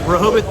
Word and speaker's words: Rehoboth: Beach should I say it right that's right Rehoboth Beach Delaware is the other location the only